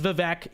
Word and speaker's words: Vivek: his behalf no not happening his name is vivec he can deal with it okay you can